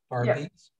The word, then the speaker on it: Berbice: And how do you pronounce Berbice? How do you pronounce? Barbice.